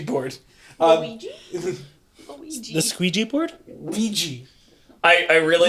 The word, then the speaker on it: Ouija: Ouija. I really Like was the- I was just hearing Luigi board. No, the Ouija board. Ouija. Not Luigi.